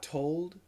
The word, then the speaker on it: told: Told. So in America, T-O-L-D, told, you should keep the L.